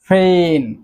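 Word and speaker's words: feign: সো এটি কিন্তু একটি নিয়ম, যখনই জি এর পর এন আসবে তখনই কিন্তু জি এর উচ্চারণটি আর হবে না।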